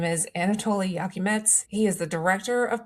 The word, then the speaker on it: Iakimets: His name is Anatoly Yakimets.